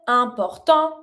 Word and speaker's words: importants: Les arbres sont importants. Don't pronounce the S.